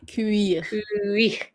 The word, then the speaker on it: cuir: Cuir. Yes. Just like put the emphasis on the I. Well, on the U and then the I. Cuir. Yes. With the R.